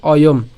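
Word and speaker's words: অয়ম্: অর্ধমাত্রা হওয়া আছে, যার উচ্চারণ কার মতো হবে? অয়ের মতো হবে। একই রকমভাবে কি উচ্চারণ হবে? অয়ম উচ্চারণ হবে।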